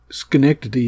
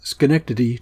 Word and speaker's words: Schenectady: Troy well I think skty is just a great name to be used in a Psalm it has four syllables and it has a